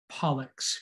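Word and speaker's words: pollex: specifically for your thumb your thumb is the pollux p-o-l-l-e-x your pollux goes to your palm that's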